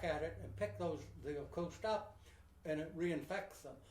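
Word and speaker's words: oocyst: The way it's, way it goes from bird to bird, there's it's an egg, O-O-C-U-S-T. Pronounce that one, Auguste.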